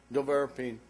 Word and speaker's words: Nevirapine: How do I pronounce it? Nevirapine.